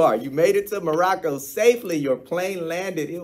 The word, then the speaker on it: Morocco: You have to roll your R's when you say Morocco. Anytime you say Morocco, it's got to be Morocco. Morocco.